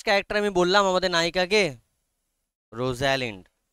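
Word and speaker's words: Rosalind: আমি বললাম আমাদের নায়িকাকে রোজালিন্ড একচুয়ালি উচ্চারণটা যেন রোজলিন্ড হবে উচ্চারণটা রোজালিন্ড নয় উচ্চারণটা বাট বানান মনে রাখার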